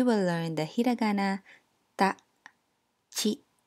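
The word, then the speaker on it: ち: In this lesson, we will learn the hiragana ta, chi, tsu, te, to. Notice that the ti syllable becomes chi and the tu syllable becomes tsu. Now, let's begin.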